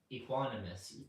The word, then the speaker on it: equanimous: How do you pronounce this part? Equanimous. Equanimous.